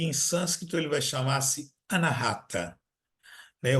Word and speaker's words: Anahata: sânscrito ele vai chamar-se Anahata, né? O indiano vai pronunciar Anahata, vai acentuar o A.